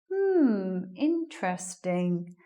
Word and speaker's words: interesting: How many syllables did you hear in that word? 3-syllable word. Not interesting. Again, the stress is at the beginning of the word. So which one do we lose? We're losing this one.